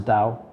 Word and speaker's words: Tao: dao which they they spell t-a-o but they pronounce is dao and taoism is about like living life it's